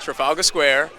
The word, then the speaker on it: Trafalgar Square: And so to be here in Trafalgar Square, right? That's how you say it? Yeah. Trafalgar Square, to promote and share this movie with the world is a blessing.